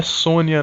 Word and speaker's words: Sonja: que chama Red Sonja que na verdade a pronúncia é Sônia né ele chegou ao